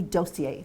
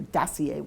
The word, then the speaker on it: dossier: the world because we actually do dosier or daier depending how you want to pronounce it daier presentations in other words